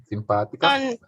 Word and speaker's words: simpática: There's an accent on the simpática.